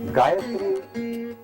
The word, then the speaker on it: Gayatri: Gayatri has three syllables: ga, ya, tri.